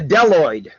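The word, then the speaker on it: Bdelloid: Now, the Deloid rotifers, the B is silent there, about 360 species.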